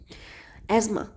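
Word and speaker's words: asthma: Adverse effects of SO2, respiratory issues, irritates the Airways, causes coughing, wheezing and shortness of breath, aggravation of एजमा। अस्थमा को इसका एक correct pronunciation एजमा भी होता है, ठीक है।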